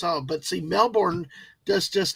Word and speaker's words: Melbourne: a party killer it's it's never Melborne it's Melbourne Melbourne and and it's never